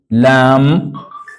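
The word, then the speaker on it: لام: then we have the other one called lamb which can be written as L this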